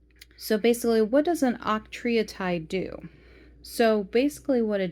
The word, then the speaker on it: octreotide: So the first medicine that they do offer for treatment, it's called octreotide. Okay, octreotide. I had to look up how to pronounce it and had to listen on how it's pronounced.